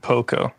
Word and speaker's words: Pokko: Or I don't know if you pronounce it Pokko.